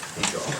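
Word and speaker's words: Hajjar: Shane Hagar.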